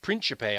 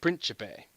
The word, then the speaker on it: Principe: It was a Principe, I believe is how they pronounce it. It's a an Italian suit. It's written like Principe, but it says like Principe.